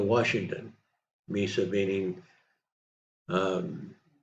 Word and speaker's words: Mesa: near the town of Misa Washington Misa meaning um spelled the same but pronounced differently than um in Arizona they have they one